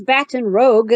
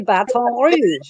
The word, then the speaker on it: Baton Rouge: But no one says Baton Rouge. They say Baton Rouge.